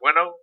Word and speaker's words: Bueno: Is that how you pronounce it? Bueno. Yep, like good.